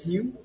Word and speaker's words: Hieu: then my name is hugh h-i-e-u right uh the word it means respectful in vietnamese language and yeah is pronounced almost like huge actually and yes my name